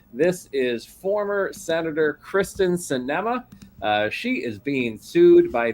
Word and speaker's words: Sinema: The ex-wife suit said Sinema, it's pronounced Sinema.